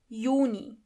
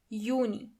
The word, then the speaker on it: Juni: June is Juni. Juni. As you know, the letter J is not pronounced as J but as Y. So, together you have Juni.